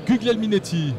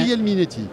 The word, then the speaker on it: Guglielminetti: Vas-y, prononce son nom parce que j'ai vraiment du mal, moi. Bruno Guglielminetti. Ouais, je me reconnais. Guglielminetti.